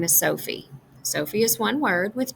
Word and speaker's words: Sophie: When we're saying the word, the first syllable, so, gets a little bit more emphasis. Our mouth is open wider, our voice tends to go up a little higher, and we hold on to this syllable a little longer.